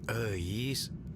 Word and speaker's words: Euis: Eis, itu tuh nama Sunda bro, dibacanya Eis.